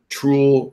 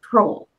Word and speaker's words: TROOL: That's TROOL, not troll.